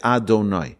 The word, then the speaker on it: Adonai: V and the he we're not supposed to read it out the way it's spelled instead it's Adonai my master Hashem creator